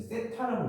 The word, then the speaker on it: 세타: 이걸 이제 세타라고 읽는 거거든. 세타.